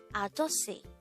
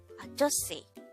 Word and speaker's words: 아저씨: 아저씨. 아저씨. This is pronounced as a three-syllable word. The first syllable is a, the second syllable is jo, the third syllable is she.